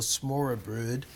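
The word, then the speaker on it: smørrebrød: cuisine that you have is called a smaller brood is the best that I can remember how to pronounce it's more brute and it's a sampling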